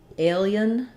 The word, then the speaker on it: alien: So I think the symbols are trying to show alien versus alien, alien. And I would say it probably like alien, alien, where I would put the Y in here, alien, alien, alien.